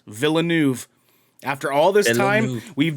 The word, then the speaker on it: Villeneuve: apparently is how i found out it's actually pronounced villeneuve after all this time we've done villanueve we've done villanav we've definitely it's barely just